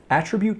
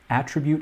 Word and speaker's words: attribute: of a marathon runner attribute can also be used as a verb when used as a verb attribute has a different pronunciation which is attribute so it's attribute when